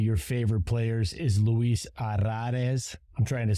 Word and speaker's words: Arraez: The double R, the accent on the A Z at the end, a couple vowels slung together, A and an E.